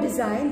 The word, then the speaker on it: design: And next, pronounce the word design. The letter G is silent in it.